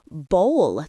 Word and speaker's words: bowl: It is bowl. It rhymes with roll or goal.